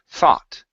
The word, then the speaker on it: thought: is the word thought instead of th tho this is an a sound in the middle thought okay one more time